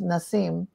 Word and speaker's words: Nassim: but I do remember it was pronounced Nasim even though it's spelled Nassim and I I met